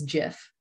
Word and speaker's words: GIF: I'm a GIF gal there because it's a graphic. The G stands for graphic, so I go with G.